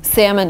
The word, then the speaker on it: salmon: And in America, the right way to say salmon is salmon. Have salmon. Salmon, yeah. But if you're in Great Britain, you can say salmon. Timber and salmon. With an L.